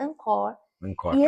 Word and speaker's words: encore: Quando você vai num show, é uma palavra em francês.